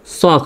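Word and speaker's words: chalk: তারপর CHLকে দেখেন, এলকে এর আগে কি ই অথবা ইউ আছে? নাই, তাহলে এলের উচ্চারণটা সাইলেন্ট হবে। তাহলে CHLকে কি হবে? চক হবে, CHLকে চক।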